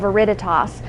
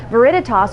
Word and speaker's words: Veriditas: exciting new line that we've brought in called Veriditas. Veriditas, which is spelled V-E-R-I-D-I-T-A-S, is a line of essential oils,